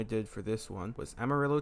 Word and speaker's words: Amarillo: The first location I did for this one was Amarillo, Texas, which I mispronounce a good bit due to my girlfriend being a Spanish major, so I call it Amarillo sometimes.